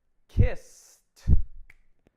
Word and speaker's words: kissed: If you said kissed, then you are correct. S is unvoiced. So you get a t, kissed.